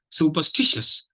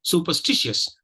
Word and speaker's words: superstitious: between per and Stitch so you have this Mark here it show it means that it's a it's a it's a you know a primary stress syllable and the second is